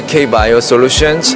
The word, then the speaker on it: KBIO Solutions: Yun yes is it kbi IO Solutions is it kbio how do how do I pronounce it we go by K bio Solutions K bio so we